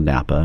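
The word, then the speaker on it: Knappa: And I grew up in the Oregon coast by Astoria in a very small town called Napa. It's spelled K-N-A-P-P-A, so I was a Napa logger.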